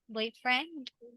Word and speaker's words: boyfriend: Boyfriend? friend. Yes. Okay, it's actually in boy. So boyfriend, right?